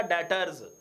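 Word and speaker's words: debtors: सबसे पहले तो प्रोनाउंसिएशन, मेरे भाई ये दो लफ्ज हैं, डेबटर, DEB, बी साइलेंस है, अब बी साइलेंस रख के पढ़ेंगे तो बनेगा डेटर्स।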